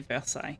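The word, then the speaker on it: Versailles: furniture and clothing I'd love to go to Versai but that's never going to happen I pronounced it perfectly both times yeah I've practice with that particular word.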